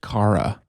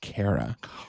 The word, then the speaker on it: Cara: I heard her say it's pronounced Cara, not Kara.